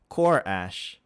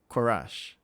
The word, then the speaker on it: Korash: Korash. Oh man, I'm gonna have a problem with that CH there. But yeah, here the pronunciation is here. There. Korash. Right? Korash. Yeah.